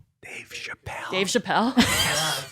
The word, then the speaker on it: Chappelle: His last name rhymes with lapel. If you want to say Dave Chappelle.